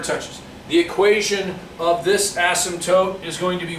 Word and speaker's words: asymptote: dashed line down here a-s-y-m acin t-o-t-e asymptote that is how you say that it is called an